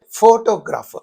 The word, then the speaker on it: photograph: So in this photograph, the first syllable receives the primary stress. Then you say photograph.